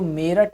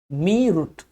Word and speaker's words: मेरठ: ऐसे ही हमारा मेरठ है, ये जो मेरठ है हम मेरठ बोलते हैं, लेकिन मेरठ की स्पेलिंग क्या है? मेरठ की जो स्पेलिंग है वो है मीरुट। अगर हिंदी के हिसाब से देखा जाए, अगर हम हिंदी के अकॉर्डिंग इसको पढ़ें तो अगर इसको पढ़ा जाए तो क्या पढ़ेंगे? मीरुट। लेकिन है ये मेरठ।